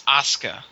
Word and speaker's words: Asuka: I would pronounce it Asuka the Japanese don't put a hard emphasis on the U they just go ASA